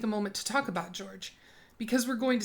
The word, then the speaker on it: Jorge: His name is spelled Jorge, but I found a video of him telling a police officer that he prefers to be called George, so that's what I'm going to call him.